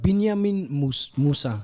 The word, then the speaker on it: Binyameen Mūsa: Binyameen Mūsa. That's how you pronounce it, right?